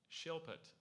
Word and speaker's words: shilpit: Shilpit. Are there any other pronunciations?